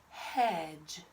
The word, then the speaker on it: hedge: Same thing, mark out my D because I don't hear that sound. And the E, they're silent. And put the dot over the G for my soft G sound.